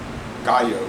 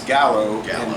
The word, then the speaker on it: Gallo: guala is sold as Gallo it's real name is Gallo which means chicken yeah rooster means rooster and uh but Gallo is spelled g a l l o which is Gallow they can't compete you